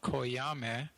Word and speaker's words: Coyame: with a tiny town in northern mexico called koyame right in this in the state of chihuahua